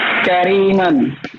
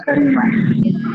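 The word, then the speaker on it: كريما: Qaulan Kariman. Oke, Qaulan Karima. Karima lah, janganlah man, karena itu adalah wakaf, ya. Berhenti. Ya, Jadi Qaulan Kariman.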